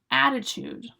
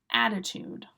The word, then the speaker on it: attitude: Attitude. Attitude. Attitude. Attitude. Attitude. 2 ways of pronouncing it. Always 3 syllables. You choose which way you like.